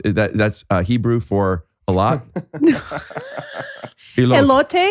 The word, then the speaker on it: elote: Elot. Is that pronounced right? Elot. That's Hebrew for a lot. Elote?